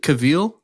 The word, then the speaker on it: Cavill: turn show yes yeah do you pronounce it Cavill or cavil I think it's cavil it's Cavill no I thought it was Cavill and then learned it